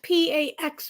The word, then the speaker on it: Pax: showed us the tips on also what does p ax mean let me address the packs for uh PA it's St it's called pronounced Pax it's a mixture between wax and